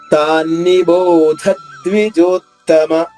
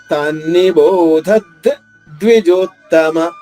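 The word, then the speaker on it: తాన్నిబోధద్విజోత్తమ: తాన్ని బోధ ద్విజోత్తమ ఇలా పలకూడదు, రెండింటిని కలిపి పలకలేదు. ఎందుకంటే ఇక్కడ ఆఘాతం ఉంది కాబట్టి. ఆఘాతం ఉంటే మనకి ఏంటి నియమం? దాని తర్వాత వచ్చే సంయుక్త అక్షరంలోని మొదటి అక్షరం 2గా చేసి ఒక అక్షరాన్ని ఆఘాతం ఉన్న అక్షరంతో కలిపి పలకాలి. తాన్ని బోధద్, తాన్ని బోధద్ ద్విజోత్తమ.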